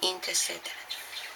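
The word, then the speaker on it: Inter caetera: Então, o primeiro documento que se refere a isso foi a bula Inter Cetera. Se escreve Inter Coetera, mas a gente lê Inter Cetera.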